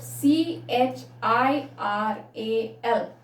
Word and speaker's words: chiral: called as chiral carbon atom how do you pronounce it c h i r a l chiral carbon atom all right chiral so the